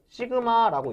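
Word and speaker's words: σ: 시그마라고 읽습니다.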